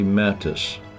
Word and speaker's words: Mattes: Mattis. Do I say your name correctly? You did. You get a gold star cuz many do not.